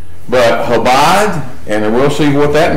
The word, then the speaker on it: Chabad: Okay, and this is what we started with: the Jewish false gospel of salvation, the 7 Noahide laws, and the Chabad, that's pronounced Chabad, Lubavitch movement.